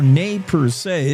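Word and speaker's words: Nez Perce: 1877 the seventh cavalry along with the second cavalry and fifth infantry engaged the Nez Pierce or Nay per se if you prefer the French pronunciation at Bearpaw Mountain in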